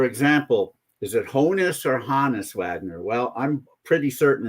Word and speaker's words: Honus: So Johannes then being anglicized into Hannes, not Honus. Plus, right. The director of the Hannes Wagner Museum says that's how it's pronounced.